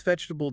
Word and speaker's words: vegetable: Maybe it's vegetable, deciding you'll stop saying 4 syllables.